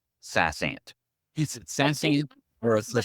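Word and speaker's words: SaasAnt: And just FYI, if you call their number and you get their recorded information about something, they say Sassant. Okay. If they pronounce it that way, then we'll pronounce it that way.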